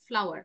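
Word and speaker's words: flour: এটার উচ্চারণটা I think mister Sami ভুল করেছিল, এটা হচ্ছে ফ্লোর না, ইটস ফ্লাওয়ার। ফ্লাওয়ার আমরা যেরকম বলি ওই যে ফুল, ওই সেম উচ্চারণ থাকবে।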